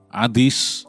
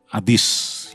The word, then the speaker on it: Hades: tempat penahanan yang bernama Adis atau Seul dalam bahasa Ibrani dalam bahasa yunaninya Adis yang orang awam kenal sebagai Hades t sebetulnya pengucapan yang tepat adalah hadis ya oke dan kemudian